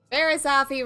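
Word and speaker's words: Barriss Offee: Barisafi rhymes with coffee.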